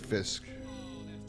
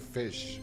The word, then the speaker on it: Fish: Albert Fisk. I think it's Albert Fisk. Albert Fish. That was Fisk. I heard Leonardo DiCaprio was supposed to play him. It's just spelled like Fisk, but it's fish.